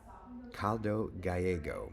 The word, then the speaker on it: Caldo Gallego: Caldo Gallego, Mike, is how you pronounce. Okay, yes. Caldo Gallego.